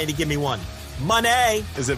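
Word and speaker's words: Moné: to give me one Monee is it m m m Monee not even it's not money M it's not Monet it's Mone Mone M Mone Mone Mone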